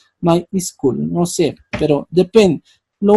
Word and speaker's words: MySQL: llamarlos no otros no no se pronuncia my se pronuncia my School no sé pero Depende